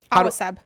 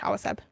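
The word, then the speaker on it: Awaceb: Awaseb. Awa like water in Spanish. Awaseb.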